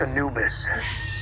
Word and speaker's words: Anubis: It's pronounced Anubis, Egyptian god of the dead.